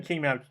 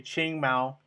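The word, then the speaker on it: Qing Mao: I always say King because I just see that Q, and that's not how you pronounce it. It's supposed to be Ching Mao.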